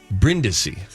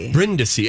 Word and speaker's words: Brindisi: brindisi but it is bryndisi that's the Italian pronunciation right Michael that was perfect oh my gosh Brenda see and that's that means